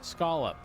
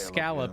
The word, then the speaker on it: scallop: However, um I do pronounce it as scolop. Uh, and anyone who says scallop is wrong.